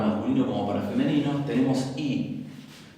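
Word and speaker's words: οι: En nominativo, tanto para masculino como para femenino, tenemos I. Se escribe omicron iota, recordarán, pero se pronuncia I y quiere decir los o las.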